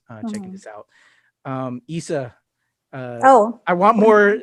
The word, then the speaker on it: Isa: more thing one more thing just i actually pronounced my name isa oh my god yeah i did i was